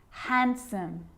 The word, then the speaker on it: handsome: d yep it can be silent too wednesday handsome sandwich so i'm not pronouncing the d in san diwich i'm just